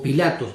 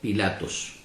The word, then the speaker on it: Pilatos: o pilatos sexual que se puede mencionar de las dos maneras porque el anuncio no es pilatos es pilatos se puede pronunciar pilato o se puede pronunciar pilatos hoy no vamos a explicar el porqué no nos vamos de tema pero de las dos maneras que usted lo pronuncie está bien sabemos que nosotros nos